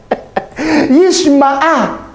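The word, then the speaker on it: ישמע: Hati-hati nih. Yishma'a. Jadi ada ehmet, ada yishma'a. Ehmet, yishma'a. Saya pertama kali baca ini, Bung, nangis, Bung. Yishma'a, yasma'i.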